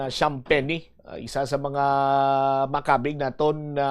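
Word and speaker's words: Champagnie: players Antonio SP Shamp noen siya ang pagpronounce ah last name ni Julian Shampenny isa sa mga makabig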